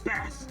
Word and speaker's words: bass: are talking about music that word is pronounced Bas bass is the fish and though it can make music it is not a musical instrument hello Olivier something you